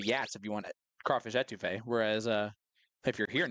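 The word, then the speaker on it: étouffée: Will pronounced it a toffee yesterday, and I almost went insane.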